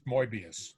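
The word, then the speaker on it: Möbius: an umlaut above the oh nots and it's pronounced morbius Mobius yes yeah look maybe a great guy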